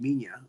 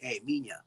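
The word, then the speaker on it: Minya: m Mia son right so even if it's spelled that way it's pronounced minia and and so the the spelling here is m m i n ya minia um there's gorosaurus showing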